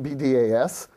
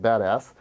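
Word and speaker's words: BDAS: Berkeley data analytic system be das or if you're in the know it's actually pronounced badass and it's actually a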